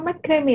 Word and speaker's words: makrame: Kalau apa yang tadi apa makrame ya? Gimana sih bacanya? Makrame gitu kan? Makrame. Tulisannya makrame. Tulisannya makrame, Bu, aku kurang ngerti yang bener ya. Iya, lidah Jawa Cikgu ya kita ya. Dibaca kabeh hurufnya.